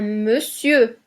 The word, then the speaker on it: monsieur: le E ouvert attention on dit un monsieur avec le E fermé parce qu'on ne prononce pas le r un ne parce qu'on